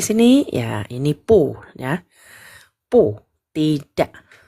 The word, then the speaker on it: 不: Bibirnya dirapetin ya. Terus digambung, bukan bu ya, tapi pu. Malahan jadi p gitu ya. Pu. Bukan. Pu. Tidak. Pu.